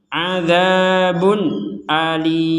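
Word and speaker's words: عذاب أليم: Nah di sini ada tanwin bertemu Hamzah maka kita membacanya dengan jelas adzabun Alim Bun a Bun jadi tidak ada dengung enggak ada samar adzabun Alim begitu baik alhamdulillah di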